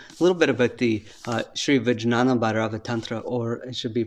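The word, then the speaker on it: Sri Vijnana Bhairava Tantra: to you a little bit about the uh sri vijnana bharava tantra or it should be pronounced shri vinyana by rava tantra and this uh this teaching actually comes from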